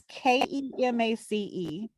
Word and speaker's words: Kemace: It's Kemace. So it's like mace with KE in the front of it.